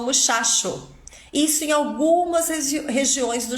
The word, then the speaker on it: muchacho: hoje aqui na live em algumas regiões do Chile também o dígrafo ch o t é pronunciado igual ao português então por exemplo eles não dizem otcho eles dizem oxo Eles não falam muchacho eles falam muchacho isso em algumas regiões